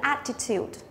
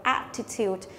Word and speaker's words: attitude: Từ này là danh từ có ba âm tiết, trọng âm của nó sẽ rơi vào âm đầu tiên, đấy đọc là attitude, có nghĩa là thái độ.